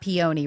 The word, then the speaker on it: peony: It's not peony, right?